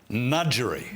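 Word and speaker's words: Ngadjuri: interest and that's as now we get the pronunciation right nudgerie well done smitho finally someone's pronounced it Right. But um Nudgery, which is formerly the seat of Fro, Penny Pratt with Tony Piccolo.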